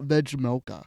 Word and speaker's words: Vejmelka: Oh, Carl Vejmelka.